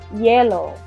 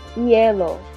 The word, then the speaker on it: hielo: H, remember our H is silent, so repeat. Hielo. Hielo, which is ice.